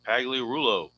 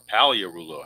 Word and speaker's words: Pagliarulo: 1-19 is going to be your double, so lead off double for Mike Pagliarulo. Or Paliarulo, however you want to pronounce it. I always call him Pagliarulo.